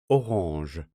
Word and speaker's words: orange: of spelling and pronunciation you'll know to pronounce this word as ohange when we create mnemonics